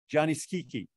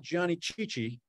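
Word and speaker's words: Gianni Schicchi: the score of this piece this is Opera Johnny Kiki that's how you pronounce it it's not Johnny chichi it's Johnny Johnny a one-act comic Opera and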